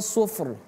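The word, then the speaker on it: صفر: Jadi fnya harus kita dapatkan suf. Rnya juga harus kita dapatkan suf ar suf ar sufr sufr sufr kaannahu jimalatun sufr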